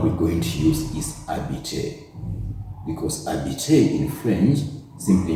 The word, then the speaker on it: habiter: Now, I know you're wondering why I'm saying habiter, yet you can see an H at the beginning. In French, H is silent. So that H is silent and we say habiter.